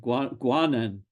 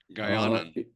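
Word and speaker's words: Guianan: rock, the Guinean Guanian, is that how you pronounce it? Guanan cock of the rock, excuse me. Guyanan.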